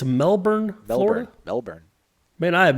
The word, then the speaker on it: Melbourne: It is definitely pronounced Melbourne. My man Alex Mastromano can confirm it's pronounced the same down under.